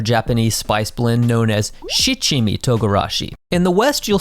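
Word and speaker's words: 七: In the West, you'll often find seven-spice “Shichimi Togarashi” labeled as “Nanami Tograrashi”.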